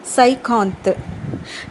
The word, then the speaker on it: cinquante: எப்படின்னா சியை வந்து நம்ம எஸ் மாதிரி ப்ரொனவுன்ஸ் பண்ணிக்கணும் ஃப்ரெண்ட்ஸ். சியை எஸ் மாதிரி ப்ரொனவுன்ஸ் பண்ணிக்கணும். ஐ வரும். என் வந்து சைலன்ஸ். க்யூவை வந்து நம்ம சி மாதிரி, அது உங்களுக்கு எப்படி கம்ஃபர்டபுளாக இருக்கோ அந்த மாதிரி ப்ரொனவுன்ஸ் பண்ணுங்கள். க்யூவை வந்து சி மாதிரியோ இல்லை கே மாதிரியோ ப்ரொனவுன்ஸ் பண்ணுங்கள். அதுக்கப்புறம் ANTE வந்து சைலன்ஸ். அப்போ இதோட ப்ரொனவுன்சியேஷன் வந்து சைகாந்த், சைகாந்த்.